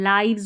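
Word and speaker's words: lives: अब इसको लिव्स नहीं पढ़ना है। लाइव्स पढ़ेंगे।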